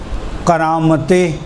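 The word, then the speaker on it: قرامطہ: فرقے کا نام تھا کرامت، قاف را الف طا اور چھوٹی ہے، کرامت. جی دوبارہ سے ہجے کروں. کرامتے قاف کاف نہیں, قاف را الف طا ہے, تے نہیں قا.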